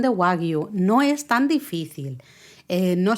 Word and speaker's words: wagyu: que la G la hacen muda, entonces dice 2 sílabas gua, y la G la hacemos muda, y entonces tenemos la Y y la U de la segunda sílaba, entonces Yu. es gua, yu.